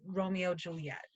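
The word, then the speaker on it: Romeo × Juliet: adaptation called Romeo Julia you don't pronounce the hex it's Romeo X Juliet it's just Romeo Juliet I love that adaptation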